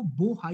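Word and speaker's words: Bohai: East Korea bay, gulf of बोहाई, याद रखना कई जगह इसकी spelling P ओ एच ए आई होती है लेकिन इसको बोहाई ही पढ़ेंगे, ये बोहाई की खाड़ी के रूप में जानी जाती है दोस्तों।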